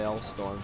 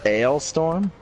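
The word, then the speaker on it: Alestorm: Fucked with an Anchor by L-Storm. Actually, it's pronounced Ailstorm. That's what I said, you fucking... No, you said L-Storm, you fat Oh, cock.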